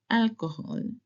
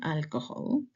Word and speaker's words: alcohol: Or for example, alcohol. It's not alcohol. Alcohol. Alcohol. Even if the H is in the middle, you are not pronounce. It will be alcohol.